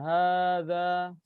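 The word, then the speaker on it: هذا: Jadi ini bacanya bukan hadza, bukan, tapi hadza itu nanti haknya panjang. Nah, tapi tulisannya emang seperti ini. Hadza itu haknya panjang tapi tulisannya kayak nggak ada panjangnya. Ya. Hadza itu bacanya panjang, haknya bacanya panjang tapi tulisannya kayak tidak panjang.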